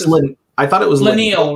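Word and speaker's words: Leinil: I thought it was Laniel, right? Laniel. Yeah, sorry, you're right. No, you're right. You're right. Laniel. Yeah. So Jim Lee, Wendy Penny, Arthur Adams, Kevin Eastman, Mike Mignola, Frank Miller, Laniel, Dave Gibbons, long list.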